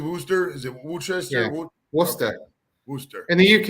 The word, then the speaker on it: Worcester: maths they call it worcester you know like like it would be w-o-o-s-t-e-r right how do you